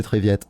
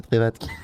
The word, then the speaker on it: Trivette: C'est dire, c'est Triviette. Non, c'est Trivette. C'est le collègue de Walker Texas Ranger. C'est Trivette. Ah oui. T'imagines, moi, je pourrais être ton Trivette.